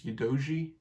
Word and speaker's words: Udogie: Destiny, I think it's Udogie is how you say it, looks really good, really powerful, a willing runner on the ball, which is what I saw today.